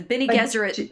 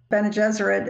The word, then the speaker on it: Bene Gesserit: That he was schooled by, like, nuns, and the Bene Gesserit is kind of rhymes with Jesuit, so it's...